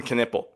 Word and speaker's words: Knueppel: Con Knipple was the same thing. Nick Hamenia, because we know the K is silent now.